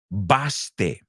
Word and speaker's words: baste: The first word is B-A-S-T-E. En español, si lo pronuncias a la española, es baste. In English, it's baste.